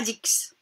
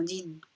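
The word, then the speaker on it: dix: un boxeur ici x10 on ne dit pas dicks ont 10 10 10 c'est le chiffre 10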